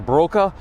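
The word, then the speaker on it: Borcke: ke German immigrant uh believe in German that would be pronounced broka um he's a German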